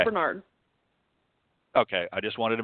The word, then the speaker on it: Barnard: Yes, you pronounced both. Marvel Bernard.